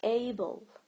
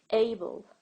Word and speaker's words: able: this is not right the right pronunciation is Abel Abel also you feel like there is a short e sound in between the consonant and the L right and this is the first syllable a the first syllable here is just a and then the second is built Abel so which part of